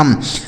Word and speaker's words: thumb: इसे थंब नहीं पढ़ा जाएगा, थम। अगर किसी भी शब्द में दोस्तों यम के बाद बी लिखा हो, ठीक है, यम के साथ अगर बी लिखा होता है तो वह बी साइलेंट होता है, उसे नहीं पढ़ा जाएगा।